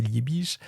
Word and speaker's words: Liebig: Liebig, prononcé Liich qui mène des expériences